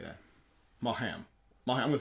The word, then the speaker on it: Maugham: Malham. I'm gonna say Malham. Where? Okay, the human body. Somerset Maugham. Maugham.